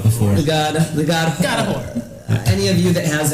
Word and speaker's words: Hoar: It's H-O-A-R, but they say it's pronounced whore.